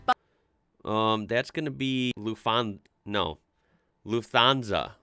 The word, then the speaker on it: Lufthansa: In English, people usually say Lufthansa, Oh, but in German, oh. we say Lufthansa. So Wow. the emphasis is on the first syllable, Lufthansa.